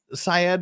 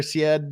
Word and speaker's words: Syed: you don't know uh Adnan Syed or said depending how you want to pronounce it he was convicted 23